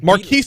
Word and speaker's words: Marquess: like it's spelled Marquez. Marquess, but it's the Marquis of Queensberry.